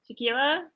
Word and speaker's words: Shaquilla: you yeah thanks alicia shaquilla say pronounce that right yeah you pronounce the correct i don't have anything